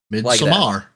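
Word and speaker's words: Midsommar: and the word stems from Swedish which is pronounced midar yeah so I but I got so I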